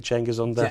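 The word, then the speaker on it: Cengiz Ünder: Senzil, is that how you say it? Cengiz Under.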